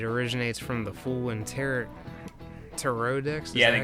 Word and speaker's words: tarot: Tarot. That's how it's pronounced.